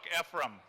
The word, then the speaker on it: Ephraim: You know, I was not sure how to pronounce his name. I was glad that they put it in the book, Ephraim.